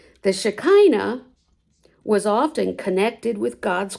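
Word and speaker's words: Shekhinah: They called it shea or the way I pronounce it shakina. The shikina was often connected with God's glory.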